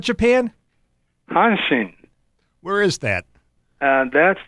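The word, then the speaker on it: Hanshin: I'm doing fine thank you how do you pronounce that team from H Japan hansin where is that uh that's in the Osaka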